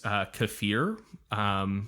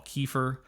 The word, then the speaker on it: kefir: feed your starter use kefir which you might call kefir I learned that I was pronouncing that wrong it is kefir or a mixture of